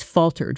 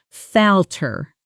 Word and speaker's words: falter: Falter. The stress is on the first syllable and the L sound is short like in the word shall.